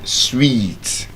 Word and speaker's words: suite: Something hotel and sweet, not sweet.